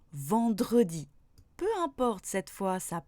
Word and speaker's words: vendredi: Mais attention, pour certains mots dont la prononciation ne serait pas possible sans le E, même à partir de la deuxième syllabe, je dois le prononcer. Par exemple, mercredi ou vendredi.